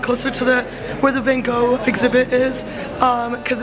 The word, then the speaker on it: Van Gogh: Also, I thought it was Vincent Van Gogh, but it's Vincent Van Gogh, so sorry for the mispronunciation.